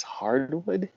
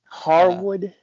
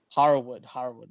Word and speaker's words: Harwood: Cash Wheeler and Dax Hardwood. Harwood. Yeah. Harwood. Harwood.